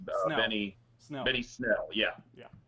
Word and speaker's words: Snell: Benny Snell. Benny Snell. Yeah. Yeah. I knew it was a one syllable name.